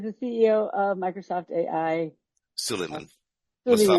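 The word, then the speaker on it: Suleyman: Suleiman. Mustafa Suleiman, thank Suleiman.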